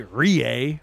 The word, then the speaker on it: Rowe: You're like, I can't say Rie when it says Rowe. Well, and I'm looking at the roster sheet and it says it right there how to say it, but I just can't say it like that. You're like, nope, not doing it. Unbelievable. Mr. and Mrs. Rie say it's Rie though.